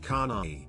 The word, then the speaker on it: Kane: Her name is Kane, pronounced Kanai.